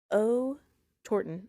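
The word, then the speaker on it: Otorten: Mount O Torton.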